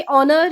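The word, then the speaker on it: honour: बट कुछ letters ऐसे होते हैं जिनमें एच जो है वो साइलेंट हो जाता है, जैसे ऑनर या फिर और।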